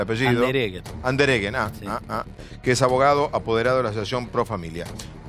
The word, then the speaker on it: Andereggen: Y Pedro Andereggen, así me dice que se pronuncia el apellido. Andereggen, Sí.